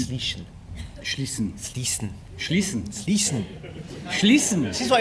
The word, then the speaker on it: Schließen: I kept slipping up a little bit, saying Schleichen, wasn't it? And it's Schleichen. Schleichen. Schleichen. Schließen. Schließen. Schließen. This is what it was like on the day. Rhymes with Riesen.